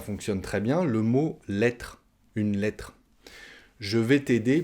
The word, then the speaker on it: lettre: Je vais t'aider pour ta lettre de motivation. On mange la dernière syllabe du mot « lettre ».